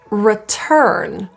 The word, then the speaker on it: return: confidence let's go return this is tricky because of the RS if you struggle with words that include R typically it's the second r or the last R especially if there are two in the same word to create an R